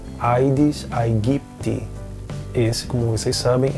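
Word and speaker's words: Aedes aegypti: sugerem uma simplificação vocálica então o ditongo ai tende a ser pronunciado como e na pronúncia eclesiástica é por isso que no Brasil muitas pessoas pronunciam edes egipte quando nós teríamos a pronúncia aides aipt esse como vocês sabem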